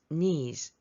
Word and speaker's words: knees: 넘어지다 과거 F fallen 니 할 때 K 발음 되지 않아요 fall to on knes이 원란 소유격을 써라 이런